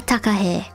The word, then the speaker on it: takahe: This is called a takahe. It rhymes with mae.